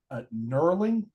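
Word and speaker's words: knurling: feature what's called uh nerling I I think I'm pronouncing that correctly it's spelled with a K but I assume it's silent uh but it's those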